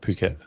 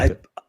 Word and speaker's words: Phuket: that's how they say it. Phuket, not Yeah, fuck it.